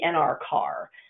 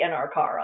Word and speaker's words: NRCAR: Regulatory Commission Acquisition Supplement, or as I have always heard it pronounced, the NRCAR. There can always be some debate about whether you pronounce the letters or whether you pronounce the words or how you do it with acronyms. But for purposes of today, and at least from my experience, we're going to go with the NRCAR on this.